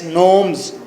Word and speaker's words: gnomes: जी silent करेंगे, spelling है GNOMES, नोम्स।